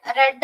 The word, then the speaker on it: read: Spelling is same ആണെങ്കിലും pronunciation red ആണ് കേട്ടോ, read അല്ല. Read, read, read.